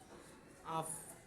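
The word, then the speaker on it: ab: আবার এই বে তো এখন শব্দের শেষে, আবর্ত থেকে প্রম, তাহলে এখন যখন এই বেটা শব্দের শেষে বসছে, তখন এটার উচ্চারণ হয়েছে পয়ের মতো, আফ, আফ।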